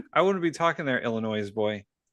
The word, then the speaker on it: Illinois: Illinois boy. Hey. Hey, that S is silent.